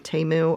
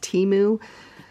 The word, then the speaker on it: Temu: call boxes are from temu or I pronounced it wrong it's actually pronounced timu and in here these